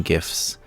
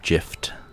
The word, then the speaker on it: GIF: gifts right and yeah i pronounce it with a soft g fight me um or